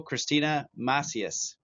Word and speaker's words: Kristina Macias: breath work and meditation welcome to the show Christina matheus they pronounced it right thank you for having me